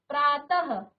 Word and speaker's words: प्रातः: आप किसी के भी शब्द के पीछे विसर्ग लगाएं तो आप इस प्रकार से आधा ह की तरह उसका उच्चारण करिए। जैसे आपने लिखा प्रातः, प्रातः, अतः, तो ह का उच्चारण किया जाता है।